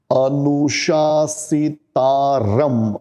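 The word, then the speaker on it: अनुशासितारम्: ठीक है, तो कविम पुराणम अनुशासितारम, रम म आधा, ये पहली लाइन में आ जाएगा।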